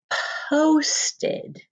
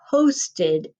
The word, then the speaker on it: post: Our next word is going to be posted, like I posted a picture. So let's tap out post. And are you hearing that closed syllable exception there?